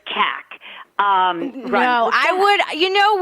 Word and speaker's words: Kac: i'll just say that my name rhymes with jack so it's cac um i would you